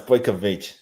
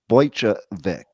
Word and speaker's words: Bojkovic: It's Bojkovic.